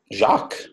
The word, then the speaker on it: Jacques: Jacques, yeah.